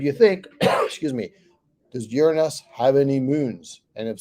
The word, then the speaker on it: Uranus: the one that's mispronounced of course and it's pronounced uranus and it's odd because again we said like